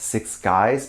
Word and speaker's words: Six6uys: The second 6 in the name is supposed to look like a G, I think. So I think it’s pronounced Six Guys.